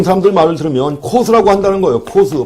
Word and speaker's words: Coase: 가치 사슬을 지배하는 법칙인데 코스라고 읽어요. 로널드 코스입니다. 그래서 이 양반 이름이 로널드 코스가 COASE란 말이에요.